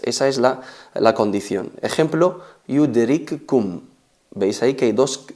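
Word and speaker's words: يدرككم: y la otra vocalizada, fusionamos la primera en la segunda y se convierte en una letra reduplicada, una letra con shadda. Yudrikkum se pronuncia, se recita yudrikkum.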